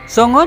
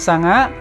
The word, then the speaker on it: songo: Jawa sekarang memakai bunyi vokal huruf o bahasa panginyongan gunakan a contohnya Songo diucapkan Sanga piro menjadi Pira dan Sopo jadi sapa secara fonologi dialek Banyumasan